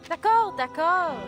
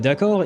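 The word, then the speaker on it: décor: Uh the problem is that last that second d is um is silent and yet I feel like I can hear her saying it pronouncing it. Hence why you know those are the tiny details that I hear and that makes me think that whoever the voice actor is. She might not be native because like yeah no one pronounces the D in decor as I'm trying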